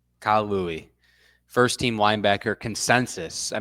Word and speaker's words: Louis: Do you know how to pronounce his last name? It's Kyle Louis. Louis, first team linebacker consensus.